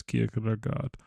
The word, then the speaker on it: Kierkegaard: And I hope I didn't butcher the name, but I'm pretty sure it's Kierkegaard.